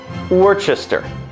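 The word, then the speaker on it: Worcestershire: to pronounce this sauce it's pronounced worchester as in you were chester but had to have your name legally changed because people kept confusing you with a formerly unpronounceable sauce add in a few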